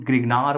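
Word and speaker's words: Grignard: पर मेंशन किया गया इसको लिखा गया गिगनार डी जो होता है यह साइलेंट देखने को मिलेगा आपको गिगनार बोलते हैं इसको हिंदी में ग्रिगनार्ड रिएजेंट आप ग्रिगनार्ड डायरेक्टली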